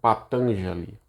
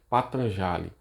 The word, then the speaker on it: Patanjali: Algumas pessoas pronunciam Patanjali. Outras pessoas, como eu prefiro falar Patanjali.